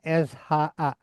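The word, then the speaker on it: しゃ: Ya, kalau ejaan lama SYA, ejaan modern SHA. Nulisnya sih dengan ya kecil ya. Sha, shu, sho. Ya, beda dengan so ini ya. Mana? Ini so, ini sho. Wakarimashita ka?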